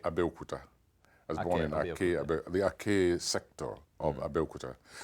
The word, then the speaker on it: Aké: And what shaped you were born in a Nigerian town called, how do you pronounce it? Ake? Ake, Abeokuta. I was born in Ake, the Ake sector of Abeokuta.